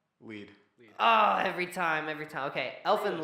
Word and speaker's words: Lied: Elfin Lied. Lead. Oh, every time. Okay, Elfin Lied. Tommy doesn't know how to pronounce words.